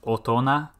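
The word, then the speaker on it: 大人: you say um but if you put the character for big next to it it becomes otona which is an exception really odd pronunciation if you put it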